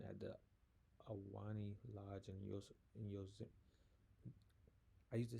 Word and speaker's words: Yosemite: Lauren Powell, 27, at the Awani Lodge in Yosemite. I used to say this because I went to school out in Washington on the West Coast. I used to say Yosemite, and I used to always see like the character Yosemite Sam.